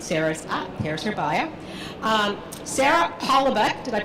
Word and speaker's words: Holoubek: Sara Holoubek, did I pronounce that correctly, Sara?